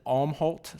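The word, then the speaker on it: Älmhult: I think you could pronounce it Almhalt, Sweden.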